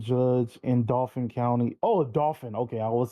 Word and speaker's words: Dauphin: Oh, Dauphin.